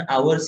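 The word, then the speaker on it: hours: यहाँ पर भी लिखेंगे सर आवर्स multiplied by rate, it's नॉट आवर्स, इट आवर्स, pronunciation आवर्स ही होता है ना।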